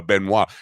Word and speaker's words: Benois: in hi arm a benois am I pronouncing your last name right Beno you are you are you're getting it right you are Beno balls a